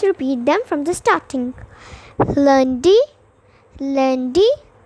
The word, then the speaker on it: lundi: So the first day, which is Monday, is pronounced as lundi.